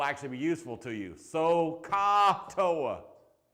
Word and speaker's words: SOHCAHTOA: SOHCAHTOA. Ah with an A, right? O with an OH, and then OA, right? Right?